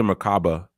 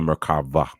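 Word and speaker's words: מרכבה: Stone right and um they call it the merkaba but it's really the merkava um because macava is actually um it's Hebrew you spell it um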